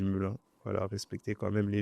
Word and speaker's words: Melun: Pour ceux qui savent pas comment ça se prononce, on dit Melun.